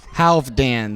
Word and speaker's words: Halfdanr: let him do it half dan the f is a v and the r is silent i was going to